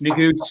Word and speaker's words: Neguse: A lot of folks, it's when they meet me, right, and it's Neguse, and some people pronounce it Neguse.